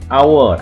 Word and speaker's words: hour: Ini hour atau jam. Hour. Ini bacanya hour. Nah, karena bacanya hour seperti huruf vokal a, hour, a, hour, hour, berarti pakai n, karena membacanya bunyinya huruf vokal.